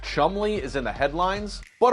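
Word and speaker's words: Cholmondeley: It's not easy to top crazier in an age where Chick-fil-A is testing out pizzas, and this word, impossibly pronounced chumley, is in the headlines.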